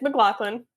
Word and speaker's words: McLaughlin: It's not pronounced McLaughlin, right? It's McLaughlin? It's McLaughlin.